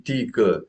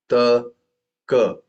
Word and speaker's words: taka: Tika times 3 and No, you're still saying tika. Don't say tika. How do you pronounce? Ta, ka.